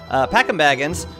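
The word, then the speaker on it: Packim Baggins: in shipwreck is fine packing Baggins packing Baggins that's right that's the correct pronunciation packing Baggins whom I can convert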